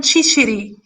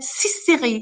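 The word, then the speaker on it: cìciri: sicilian killed them all asking them pronounce the word chickpeas chickpeas is in sicilian chichiri they weren't able to see chichiri they said sisiri siseri killed you have to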